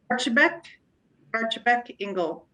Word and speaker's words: Archibeque-Engle: I want to pronounce it correctly. Archibeque-Engle.